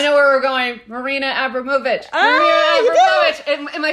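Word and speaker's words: Abramović: Is it Abramovic or Abramovich? So it's Abramovich, I believe. Okay. But I kept pronouncing it so wrong to all of my editors. Like, I would say, Marina Abramovic.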